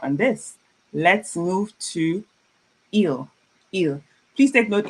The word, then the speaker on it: il: It's pronounced il. It's not i. It's just il.